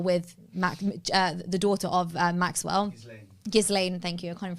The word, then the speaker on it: Ghislaine: Maxwell who, it might be Ghislaine Maxwell's father, I don't know, but he died in like the 90s or something.